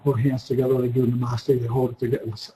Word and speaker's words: namaste: They go namaste, namaste. The accents on the first syllable, namaste.